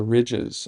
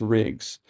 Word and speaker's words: rigs: I love some of her pronunciations of the words, the ridges, even though it's rigs, and Blythe, she says